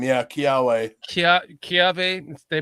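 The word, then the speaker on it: kiawe: Kia Kiave. They pronounce it Kiave, but it's it's spelled Kiwe.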